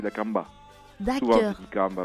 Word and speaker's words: La Kambá: Nous on dit La Camba, mais c'est vrai qu'on met un petit accent. Les mots qui finissent avec un accent à la fin, c'est prononcé avec un accent tonique vers la fin. C'est La Camba.